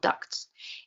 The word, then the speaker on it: duct: a um areas called ducts and pardon me if I mispronounced this word it's not the quack duck it's a duct and it's one of